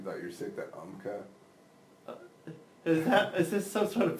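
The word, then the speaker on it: Umcka: You thought you were sick, that UMCA. Is this some sort of big Latin thing? No. It's called UMCA. It's spelled U-M-C-K-A.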